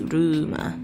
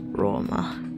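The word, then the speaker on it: ローマ: It's not pronounced as Ruma. It becomes as Roma. Okay. So we write that. Did I write that properly? I guess good enough. Roma, or otherwise known as Rome.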